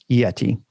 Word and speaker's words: Yeti: hard on the T's. That was too much of a T. You go So Yeti. Yeti. It needs to be more like a D, like Right. Yeti. Yeah, Yeti's what I say. Yeah, it's spelled. They should change the spelling to Y-E-D. Yed. Y-E-D-I. Like Jedi.